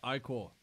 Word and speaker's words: ichor: I can fill it with magical ichor. That's pronounced ichor.